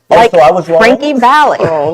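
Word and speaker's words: Frankie Valli: Frankie Valley. Just FYI. I mean, so the rule in news is if you can't pronounce it, say it aggressively and fast.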